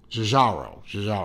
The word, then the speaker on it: Giugiaro: not Gallardo, oh hell, I know how to pronounce it. I've heard Tristano over at Urban Gentry say it a thousand times. Giugiaro.